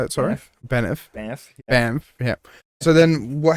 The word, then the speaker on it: Banff: So then so you were over at Bess. Is that how you say it? Sorry? Banff.